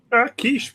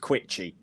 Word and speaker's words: quiche: Quiche me teeth. Am I the only person as a kid who didn't realise that quiche wasn't pronounced quitchy?